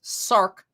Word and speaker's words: SARK: know what that means sark which rhymes with far uh down uh is